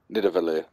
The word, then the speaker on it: Nidavellir: Oh, we're in Nivandalir. How do you pronounce it? It's called Spartalheim. Yeah, there you go. Nidavellir.